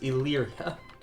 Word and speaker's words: Illyria: sorry that's I always I've always been saying their name wrong but it's Illyria oh some war in